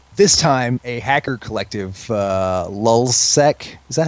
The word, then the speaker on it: LulzSec: This time, a hacker collective, Lulzsec, is that how we pronounce it? Anyway, Yep. Lulzsec.